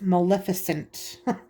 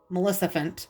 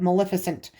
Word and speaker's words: Maleficent: i was a kid i say melissa melissa fent like a heffalump so if i say that wrong in the video i know i'm saying it wrong it's just one of those words that's hard for me to say correctly but maleficent ursula captain